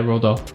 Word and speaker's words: Roald Dahl: I think is it Roald Dahl? You know the author Matilda? Yeah. Is that how you say it? Yeah, Roald Dahl.